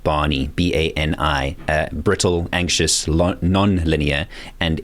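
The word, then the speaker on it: BANI: there's another word now I think it's pronounced Barney b-a-n-i brittle anxious non-linear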